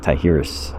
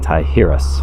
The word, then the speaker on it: Tijeras: were the people of taihirus you know if i'm saying it wrong i apologize i believe the j is pronounced as an h so i'm saying tihirus hunting gatherers 12 after